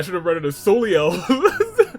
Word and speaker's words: Soleil: I should have read it as Soleil, pronounced Soleil, thank you.